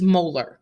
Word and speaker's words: molar: a big m and the way we pronounce it is molar so we would say the solution is .250 molar like the tooth molar all right pretty straightforward